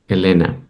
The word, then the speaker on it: Elena: with her teen daughter Elena well that's the Spanish pronunciation of Elena the correct pronunciation yes okay thank you